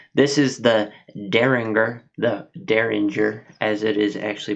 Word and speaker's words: Dareringer: at rabbit hole this is the derringer the derringer as it is actually pronounced um it's a finished whiskey uh it